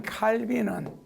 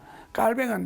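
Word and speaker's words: Calvin: 그러니까 이 말에 대해서 요한 칼빈은, 원래는 발음이 깔뱅이죠. 깔뱅은 말하기를 우리가 합당하게 추구하는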